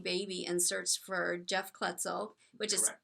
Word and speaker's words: Kloetzel: and searchs for Jeff kutzel which is k l o t z l cor yes I know and I I learned how to pronounce it because Cheryl Garcia told me it rhymes with pretzel so correct that's the